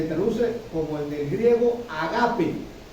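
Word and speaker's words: agápē: Se está refiriendo al amor que se traduce como en el griego agape. Agape, como ustedes quieran. Agape, con acento en la agape.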